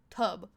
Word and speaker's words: Tupperware: that, I think of that whole little like Tupperware thing. What is it? How do you say that again? Tupperware? Say it again? Tupperware? Say the first syllable. Tub.